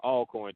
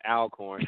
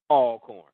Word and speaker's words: Alcorn: I was told that it's Alcorn, too, not Alcorn. I've been saying Alcorn for the past 3 years, and come to find out it's pronounced Alcorn.